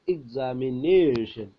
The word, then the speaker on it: examination: അപ്പോൾ എക്സാമിനേഷൻ, എക്സാമിനേഷൻ, എക്സാമിനേഷൻ, നേ എന്നതിനാണ് stress കൊടുക്കുന്നത്.